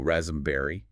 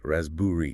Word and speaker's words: raspberry: The P is completely silent, right? If you pronounce the P, so rasmberry, you're revealing that you're relying on the spelling. The correct pronunciation is rasbburi.